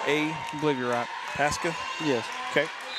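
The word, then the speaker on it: Pascha: you remember if youall said it right yesterday Pasa Pasha with strand p a s c h a obliv rock Pasa yes okay 107 good job from the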